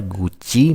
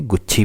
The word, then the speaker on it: गुच्छी: तो ये क्वेश्चन है कि which state has short a जीआई टैग फॉर गुच्ची mushrooms. गुच्ची नहीं कहते हैं इसे, गुच्छी बोलते हैं। वैसे तो स्पेलिंग ऐसी है, बट गुच्छी कहते हैं।